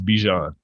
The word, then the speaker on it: Bijan: i got it clear how are you supposed to pronounce it it's it's bijan okay thank you merry